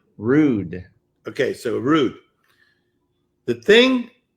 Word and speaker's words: Rood: and how do you say your last name rude okay so rude the thing is with you